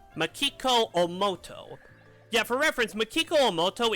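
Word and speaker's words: 大本眞基子: What's her name pronounced? Makiko Omoto.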